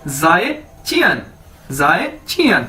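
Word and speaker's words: 再见: हम उसे कैसे कहेंगे, जाए चियन। ये देखिए मैंने इसको प्रोनाउंसिएशन इसकी बता दी है, ZAI, जाए, चियन, यानी गुड बाय।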